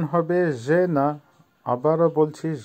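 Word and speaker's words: жена: জেনা, জেনার অর্থ হচ্ছে বউ বা ওয়াইফ, উচ্চারণ হবে জেনা। আবারও বলছি জেনা।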